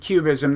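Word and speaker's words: QBism: The uh and we should say that when you you mentioned cubism that's not spelled like Picasso's cubism. It's actually capital letter Q and B I SM.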